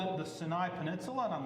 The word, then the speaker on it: Sinai: Sinai. Okay. Sinai. Yeah. Yes. Oh, really? Because it's actually how it's pronounced. The sin in the beginning of Sinai is the same as the sin by itself.